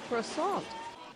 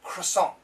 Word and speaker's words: croissant: Now, the news reporter's pronunciation is very good. Croissant, croissant, something like that. But most Americans say croissant, croissant, croissant. I like a croissant. I'd like a croissant, please. So there are several pronunciations, but her pronunciation, very good.